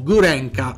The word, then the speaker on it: Gurenko: Sergei Gurenko, o Gurenka, come Gianni Cerqueti amava sottolineare, riprendendo la pronuncia locale.